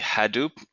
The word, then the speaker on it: Hadoop: Someone's asking, how do you start using the Hadoop? Am I pronouncing that correct? Hadoop? Yes.